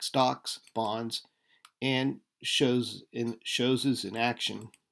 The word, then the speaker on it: chose: Shows. I think that's shows. That's from French. That's why it's pronounced strangely. So instead of chose, it's shows.